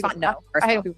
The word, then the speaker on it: Fontenot: I know it's Fontenot. I hate when people mispronounce that.